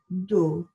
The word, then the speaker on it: do: can you say that do almost a dow sound do number three is say